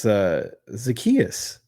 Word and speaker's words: Zacchaeus: You're saying his name wrong. It's Zacchaeus.